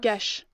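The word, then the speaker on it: geas: How do you say this? Is it Gia? Gesh. Gesh, I think is how you pronounce it.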